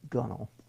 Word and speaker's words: gunwale: top of the gunwale, which I believe is actually pronounced gunnel.